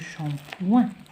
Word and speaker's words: shampoing: Du shampoing, du shampoing. Shampoing, on a SH aussi se prononce ch. نتعلموا حوايج جداد. Shampoing, le G à la fin ne se prononce pas.